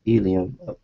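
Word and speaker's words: ylem: this solid core of nothing yam pronounced Elum Elum with a name like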